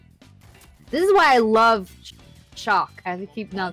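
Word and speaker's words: Chaac: Yo, Shaq is Chalk. His name is Chalk. Now it's Chalk. Keep saying it wrong. Now we know it's Chalk.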